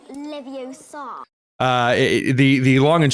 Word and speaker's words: Leviosa: It's Leviosa, whatever.